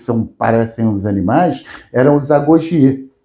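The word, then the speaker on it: agoge: Só que lá, aquele exército, que também fica separado e que parecem os animais, eram os Agogie. E a pronúncia é Agogi, né? Mesma coisa.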